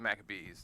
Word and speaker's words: Maccabees: in American we pronounce it the Book of Maccabees.